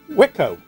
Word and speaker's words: Wico: okay so as you can see it's pronounced wico go figure uh anyway these Data East joysticks are whitco eight-way rotary joysticks and these are made by